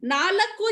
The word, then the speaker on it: ನಾಲ್ಕು: ಎರಡು ಮೂರು ನಾಲ್ಕು नाकू नालकू जो बोली मैं उसको कभी कभी लोग नाकू भी बोल देते हैं कि वो क छोटा है ना तो नालकू की जगह नाकू हो जाएगा ओके एल साइलेंट। नाकू नाकू, नाकू भी चलेगा, नाल्को भी चलेगा।